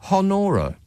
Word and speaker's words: Honora: Honora. Yeah. Spell that for me. Honora. But not H, though. Can we agree that it's not H?